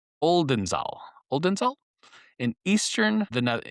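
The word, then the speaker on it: Oldenzaal: Okay, so it's spelled O L D N Z A L Oldenzal Oldenzal in eastern the Ne in the eastern Netherlands.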